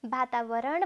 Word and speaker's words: वातावरण: भनेर दोधारमा नपर्नु होला कतिपय शब्दहरू हामी व लेख्छौँ उच्चारण ब गर्छौँ जस्तै वातावरण भन्दा हामी व लेख्छौँ तर ब उच्चारण गर्छौँ अब यी शब्दलाई गुरुआमाले